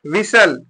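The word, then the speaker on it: whistle: देखिए क्या लिखा है विसल क्या लिखा गया है विसल डब्लू आई एस ए L will यहां पर टी क्या है साइलेंट है विसल में टी क्या है साइलेंट है इसको विसल पढ़ेंगे विसल माने सीटी यहां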